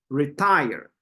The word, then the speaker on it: retire: retire retire that's a stress on the second one retire yes the second one retire retire you can feel how we are Str guessing that that that second part or the second syllable we're pronouncing it harder retire retire very good and Carla last one